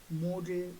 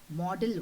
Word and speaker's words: modal: that can be expressed making use of these modal verbs and one more thing i would like you to focus is on the spelling and the pronunciation of this particular word some people say model verbs it is wrong okay the pronunciation is